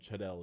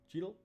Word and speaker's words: Cheadle: pronounce his last name i've been told chadel is wrong so don cheadle cheadle coming back as war